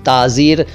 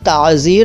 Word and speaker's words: ताज़ीर: इसके बाद ताज़ीर। दरअसल ये ताज़ीर है, लेकिन ताज़ीर कहिए सिंपली।